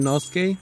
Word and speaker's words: Inosuke: definitely sounds like you're nosuke you know skating like I said I'm sorry about pronouncing anything wrong some of you guys might say no suke when I say inosuke that's the man bear